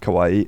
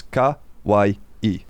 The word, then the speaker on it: kawaii: So, for example, with kawaii, it's ka-wai-i, kawaii.